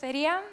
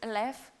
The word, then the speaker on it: Eleftheria: hi my name is Alia I'm coming from Greece I also know that my name is a little bit difficult to pronunciate it so if you can say Alia just go with left it's fine uh but